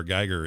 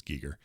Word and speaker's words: Giger: chat uh an hr geiger image or giger i guess is how we've all been saying it wrong it's giger um my whole life